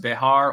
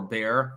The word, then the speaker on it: Bexar: The Bexar County Sheriff, and I think it's actually pronounced Behar or Bear or something like that, but I don't care because I'm not a Texan, is trying to investigate the matter.